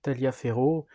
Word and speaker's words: Taliaferro: généraux, sachant que ici, celui qu'on voit écrit Taliaferro, en fait se prononce Taliafer en anglais, se prononce pas du tout à la française, donc à part lui,